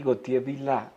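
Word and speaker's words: Gauthier-Villars: un poco la idea de quién es Henry gotier vil se dice se pronuncia así Quién fue Henry goti ese era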